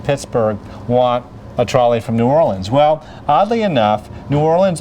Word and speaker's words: New Orleans: This is the original streetcar named Desire from New Orleans, or Nolans as they say.